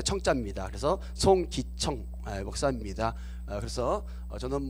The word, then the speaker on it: 송기청: 페이지 21 페이지에 있는 송 기 청 입니다 어떤 분들은 발음을 잘못 해가지고 제가 어 국회에 따가 적인 예약을 했는데 가봤더니 공기총 님께서 왔더라구요 아 저는 안에 소나무